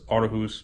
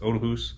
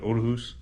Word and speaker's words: Aarhus: I had no idea I thought it was Aus but it's otus apparently the two A's together in Danish make a o sound or o so that is how you say it Odus um this is my